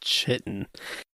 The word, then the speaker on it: chitin: It's not pronounced chitin.